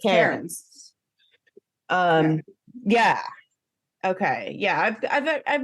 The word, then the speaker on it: Cairns: wanted to say Carnes, but it's Cairns. Yeah, it's Cairns.